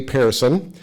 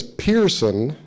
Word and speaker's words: Pehrson: And I grew up knowing his name as Pehrson, but it's actually Pehrson. As you'll find out, he is from Sweden, came over to the U.S. And if you really want to say it properly in Sweden, you'd say Pehrson. I'm going to go with Pehrson, okay?